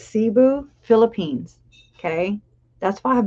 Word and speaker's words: Cebu: it's called Cebu I even got him to pronounce it for me not him but the thingy Google and it's Cebu Philippines okay that's why I've been putting out